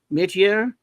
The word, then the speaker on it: métier: He has long been a master of the form, and in the Forever People, it seems he's found his métier, M-E-T-I-E-R.